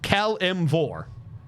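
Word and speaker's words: Kelemvor: that is his name I'm gonna copy it with the pronunciation guide that I found on their Wiki that's his name that's how it's pronounced Kel M4 .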